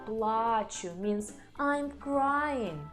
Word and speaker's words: плачу: Я плачу means I'm crying. Я плачу. And here we put stress on the last syllable. Я плачу means I'm pain. Я плачу. So be very careful with these stresses.